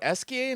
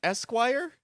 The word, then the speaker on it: Esquie: So, uh, there is Esa, not Esquire. Esa. Yep. Esa. It might have been, man, this game is French. It might have spell checked to Esquire, but they pronounce it Esa.